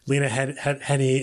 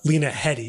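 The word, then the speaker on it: Lena Headey: could see that basically this family like the Lena Henny and uh um I just said her name wrong uh Lena Hedy yeah I just say that right Lena Hy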